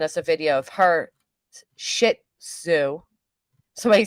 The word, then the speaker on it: Shih Tzu: Three Size just sent us a video of her Shih Tzu. Somebody says, say it like you're telling Susan to take a shit. Shih Tzu.